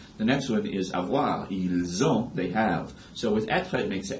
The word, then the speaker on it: ils ont: And with avoir, you're just doing liaison, and that's what gives you the Z sound before you go into the verb, ils ont, right?